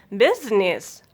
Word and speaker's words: business: Rule of silent letter I is exception in a 6 words, then I will be silent. Business, juice, fruit, cruise, parliament, suit.